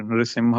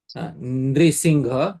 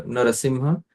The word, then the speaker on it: Narasimha: And Nrusingha, I have heard many of them. Nrishingha, Nrishinga. All these are incorrect pronunciations. The proper pronunciations according to Shiksha Shastra are Narasimha, Nrasimha.